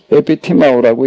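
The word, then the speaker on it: ἐπιτιμάω: 에피티마오라고 읽는 거예요.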